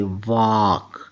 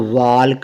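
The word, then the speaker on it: walk: तो साइट होता है डब्लू ए एल के वाक इसको वाल्क नहीं पढ़ना डब्लू एल के वाक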